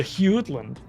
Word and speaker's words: Jutland: Yeah, it's a soft J. It's a Hewland.